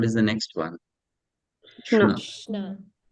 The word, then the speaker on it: Krishna: Only Kri. Because the syllable should end with a vowel. Ri is a vowel. Right? And then what is the next one? Shna. Krishna.